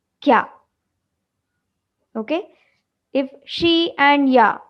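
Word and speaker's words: きゃ: Okay, both the syllables we are going to read separately, but when this ya is smaller, then it makes it a digraph. So that time we are going to read it as kya.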